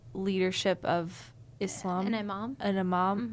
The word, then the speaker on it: imam: An imam.